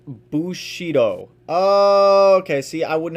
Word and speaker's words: bushido: but uh i might look into it later pronounced bushido oh okay see i wouldn't have guessed that